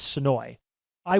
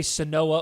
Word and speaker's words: Senoia: into me that it's so I want to say SOA or sooya so bad but Ben is like the locals say it's SOI so I'm trying to